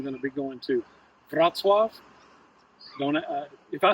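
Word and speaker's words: Wrocław: Kkow, but I'm going to be going to Vatzwave. Don't uh if I spell that for you, it will not look like Vatzo, but I'm pronouncing it correctly.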